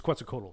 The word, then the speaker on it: Quetzalcoatl: quetzalcoatl you look like i said it's it's quetzalcoatl i know that for a fact it's like